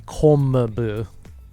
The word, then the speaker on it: kombu: to type it in, but the pronunciation would be kombu because in the n sound followed by a b, m, or p would actually be m.